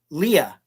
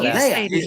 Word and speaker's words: Leia: Jeff Caffrey, who's an actor, he always says Leah. It's no Leia. He always says Leah because the one general in A New Hope that says this plan brought to you by Princess Leia, and I'm like, no.